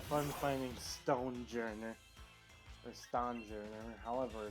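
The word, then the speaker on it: Stonjourner: Or Stone Journer, however it's pronounced. I say Stone just because all they're really missing is the E out of it.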